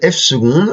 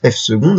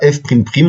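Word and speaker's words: f″: Mais on vous rappelle que on appelle f seconde la dérivée seconde de f, donc ça se prononce f seconde, hein, avec les deux petits primes, on dit pas f prime prime, on dit f seconde, et on appelle ça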